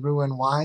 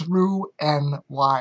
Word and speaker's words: Roux-en-Y: on that rather describing ruined why surgery um I'm pronouncing it wrong it's not ruin its roux and why I'm sure click the